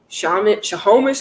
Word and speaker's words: Snohomish: Snohomish County, 48.